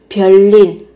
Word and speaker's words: 별일: Các bạn sẽ phát âm bằng cách là ở đây biến âm thành riêng sẽ là 별일.